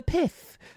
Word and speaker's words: PIF: a deal with the PIF. The PIF, you have to pronounce it like that. This is the only way.